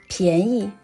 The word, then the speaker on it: 便宜: In this class, the pronunciation of 便 is 破音安便，便宜。In the same pronunciation, there is another phrase, 占便宜 means undeserved benefits. It is a negative word. 便宜 can also pronounced as 便宜.